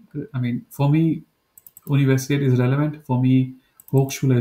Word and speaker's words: Universität: So this one is like A with 2 points. It's called A umlaut. Whenever you want to read this, how do you say air in English? Like air, right? What you read? Just say air without the R part.